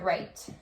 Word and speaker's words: write: It's the kind of write, like I'm writing on the board, right? I don't say the W, or I don't pronounce the W. I just say right.